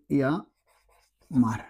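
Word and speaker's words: llamar: আমরা একটা উদাহরণ দিই, ইয়া মার। এখানে একটা বিষয় খেয়াল করেন, দেখেন ডাবল এল আছে না সামনে, ডাবল এল যদি থাকে তাহলে এটা উচ্চারণ হবে ইয়া বা জিয়া, ইয়া বা জিয়ার মতো উচ্চারণ হবে।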